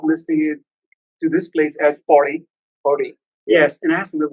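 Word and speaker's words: Pauri: But it's actually here, the locals call it Pori Gadwal.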